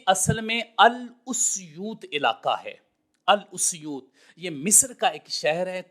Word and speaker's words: السیوطی: وہ یہ ہے کہ الف کے اوپر ضمہ ہے، اس اور سین کے اوپر جزم ہے، اس اور یا کے اوپر بھی ضمہ ہے اور واو آگے اس کے اوپر جزم ہے۔ الاسیوطی یہ اصل میں لفظ ہے۔ اسی طرح ہی امام